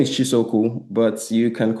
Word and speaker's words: Chisaokwu: Um, yeah, my name is Chisoku, but you can call me Chisa. I mean, if you get to pronounce the full name, you score extra extra points.